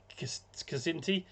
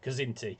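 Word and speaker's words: Kzinti: Um he also approaches um a cinti casinti. I'm probably mispronouncing that. This is where sometimes having an audio book would be helpful. Kazinti. It's K Z I N TI.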